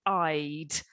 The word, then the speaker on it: I'd: one more time please i love to go no i'd you need to pronounce the d i love it one